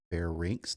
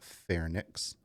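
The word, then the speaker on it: pharynx: a commonly mispronounced word Fair rinks the Y is before the N so it's pronounced Fair rinks not fairx and linkx not LX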